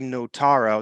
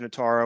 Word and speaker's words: Notaro: is the second album my American comedian Tig Notaro that's how you pronounce that name yeah it's a deeply personal set performed just four days after nataro was I think I just said it wrong